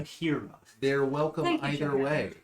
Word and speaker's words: Jaheira: It's not spelled like Jaheira, but I think it's pretty Harris, like from Game of Thrones. Oh. that one looks like it's Game of Thrones, Okay. but Yeah, not Jahira. Jaheira.